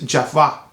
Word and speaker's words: Jovoy: a French house and the right way to pronounce the house is Java I understand and the